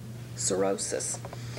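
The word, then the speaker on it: cirrhosis: aites sorosis sorosis and you'll notice there that that H is silent sorosis and then we have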